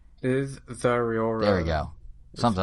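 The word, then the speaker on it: Zeraora: It's like Zazura, something like that, right? Is Zariora.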